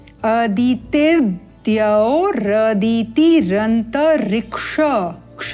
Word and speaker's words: अदितिर्द्यौ: अब यहाँ जब उच्चारण होगा तो कैसे होगा, ये जो रेफा है ये इस ती के साथ उच्चारित होगा और तदुपरांत द का उच्चारण, तिर्द्यौ, इस प्रकार उच्चारण स्पष्ट करते हुए आगे चलते हैं। अदितिर्द्यौ रदिति रंत ऋक्ष, क्ष का उच्चारण ध्यान देंगे।